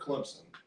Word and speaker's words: Clemson: you're not from here most people think that we mispronounced the word Clemson there's no p in the name I'm like what are